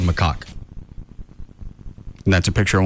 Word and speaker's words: macaque: How do you actually pronounce it? You got it right. It's actually called macaque.